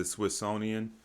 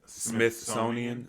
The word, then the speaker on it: Smithsonian: what happens apparently is the swissonian i don't know is how you say it smith smithsonian the smithsonian comes and gets the